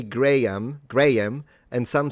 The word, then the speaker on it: Graham: In either case, I don't pronounce the second H. Right. Graham.